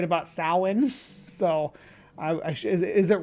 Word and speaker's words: Samhain: But it's pronounced Samhain, not Samhain.